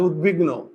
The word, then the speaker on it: উদ্বিগ্ন: থাকে তাহলে এই দন্তস্য তালবস হয় না তাহলে উদ্বিগ্ন এটার উচ্চারণটা কি হবে দেখো তো উদ বিগ নো ওকার হলো কেন দেখো তো উদ্বিগ্ন উদ্বিগ্ন উদ্বিগ্ন